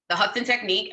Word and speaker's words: The Hudson Technique: The Hudson Technique, and it's located in which state?